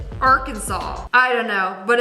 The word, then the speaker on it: Arkansas: So, it's three syllables. Are Kansas or is it Arkansas?